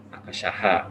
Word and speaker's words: akasha: Akashaha kalau dibacanya seperti ini.